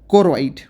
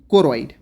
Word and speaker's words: choroid: एक हमारे पास रहेगा कोरोइड, ठीक है। कोरोइड हमारे पास रहेगा CHOROID। अगर आपको स्पेलिंग नहीं पता चल रही है, CHOROID, कोरोइड, ठीक है।